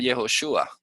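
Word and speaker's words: יהושע: Pero aquí en en Éxodo 17:9 dice en hebreo el Jehoshua.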